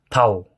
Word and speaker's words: тал: Л будет обычный л, например, ээ тал, да, это значит дерево, не таль, а тал.